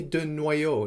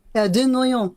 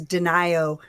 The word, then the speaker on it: Denio: de Noyo, is that right? Denio. Uh-huh. Although my American family says Denio, rhymes with uh, Ohio.